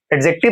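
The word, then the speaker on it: adjective: D silent होता है, मैंने आपको बताया था। एडजेक्टिव नहीं होता, एडजेक्टिव होता है।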